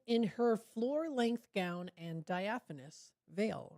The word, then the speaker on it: diaphanous: in order to try to be able to pronounce it. So let's hear it together. This is, we'll listen to it. Diaphanous. Diaphanous.